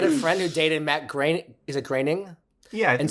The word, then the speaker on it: Groening: Oh, and I had a friend who dated Matt Groening.